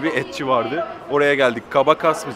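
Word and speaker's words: Cabaças: Kabasaş diye okunuyormuş ismi, bu arada onu da söyleyeyim.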